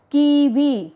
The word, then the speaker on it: kiwi: So, always remember W you should not sound as W, you should sound as V, V. Okay. Kiwi.